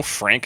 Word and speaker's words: Franke: Frankie? Like I Frankie? just looked at a pronunciation thing and it said Frank Previte, and I was like, cool.